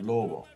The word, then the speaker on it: lobo: So you could say lobo, but you could even say it softer, lobo.